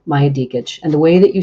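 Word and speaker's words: Maja Djikic: to spell it for you it's her name Maya diage and the way that you spell that is m a j a DJ i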